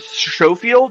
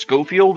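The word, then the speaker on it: Schofield: it's to be said showfield it's pronounced scoffield as if it was a k there now what the showfield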